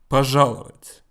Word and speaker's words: пожаловать: Пожаловать.